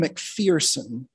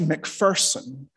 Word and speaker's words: MacPherson: the congregation by the service leader as mcpherson the mcphersons it's pronounced macpherson it's a little annoying when somebody doesn't get